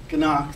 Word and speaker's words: Ganock: And I'll check with Ralph Ganock. The G is silent.